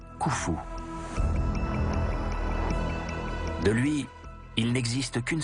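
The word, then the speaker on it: Khoufou: dynastie de l'Ancien Empire son nom égyptien se prononce koufou de lui il n'existe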